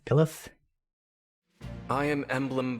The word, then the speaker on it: Byleth: Can't remember how you pronounce the name. Byleth? Pilith? I am Emblem Byleth.